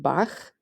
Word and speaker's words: Bach: For the soft h, like in ich, imagine gently brushing a cat's soft fur with a paintbrush. And for the hard h, like in Bach, picture scratching against the rough bark of a tree. Ich, Bach.